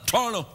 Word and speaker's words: Toronto: don't even call the Toronto I pronounce it like locals say Toronto I call it hano hano do you mean